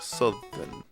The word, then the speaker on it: Southern: They pronounce the ow just like it's in South, instead of the normal pronunciation like Southern.